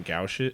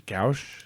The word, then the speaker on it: gouache: I've messed around with some gouache. Is gouache?